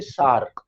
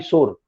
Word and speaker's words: sore: ये जो वर्ड आता है ना SOUR, इसकी प्रोनाउंसिएशन होती है सार, ठीक है, पहली बात। और अगर एक होता है SORE, सोर, जैसे आपके थंब में चोट लगी, सोर थंब, उसको बोलते हैं सोर, SORE।